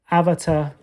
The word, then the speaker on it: Avata: I am hoping that DJI will eventually come with the DJI Avata, because that's how you say it, based on all the paperwork and the original thing.